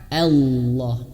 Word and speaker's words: Allah: Maka Allah, Allahu, dan Allahnya di sini tebal. Kenapa tebal? Sekali lagi, karena Allahnya ini ya, di belakangnya ada huruf yang berharokat fathah. Ya, fathah atau domah misalkan. Ini fathah, maka tebelkan. Bukan Allah ya, bukan Allahu, bukan, tapi tebelkan.